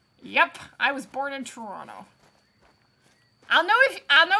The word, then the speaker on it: Toronto: tv and they say toronto it's like no you are not from there it's toronto there's the second t is not pronounced you got a 271